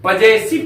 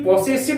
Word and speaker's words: possessive: Number 10 में हम लोग पढ़ेंगे प्यारे बच्चों पजेसिव pronoun, POSSESSIVE, पजेसिव pronoun. प्यारे बच्चों इसको कभी भी पॉसेसिव नहीं बोलिएगा, POSSESSIV पॉसेसिव नहीं बोलिएगा, इसका उच्चारण होता है पजेसिव प्रोनाउन।